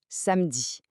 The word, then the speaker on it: samedi: Le premier jour du weekend, c'est samedi. On le prononce samedi. Un peu comme pour mercredi, le e du milieu est souvent silencieux à l'oral, ce qui donne une prononciation très fluide et rapide.